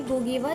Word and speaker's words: Ngugi: गुगी व थ्योंग, गुगी की जो प्रोनाउंसिएशन है वो गुगी रहेगी, बट the word the name will be NGUGI, right. तो आप इसको गुगी प्रोनाउंस करेंगे।